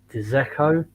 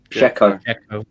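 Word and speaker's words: Džeko: Sorry if I pronounce this wrong. It's Dzeko. Dzeko.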